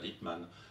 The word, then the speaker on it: Lippmann: a participé au colloque, Walter Lippmann, ça c'est un mot dont je prononce à l'allemande, et Walter Lippmann, puisque